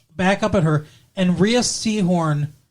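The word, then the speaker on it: Rhea Seehorn: up at her and ria seahorn or ray seahorn i think is how she pronounced her name does the the best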